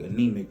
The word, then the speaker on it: AnemiQ: But so like anemic, we spell it with a Q instead of a C.